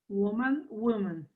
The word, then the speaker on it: woman: So even the O is pronounced differently between man and, or between woman and women. Woman, woman.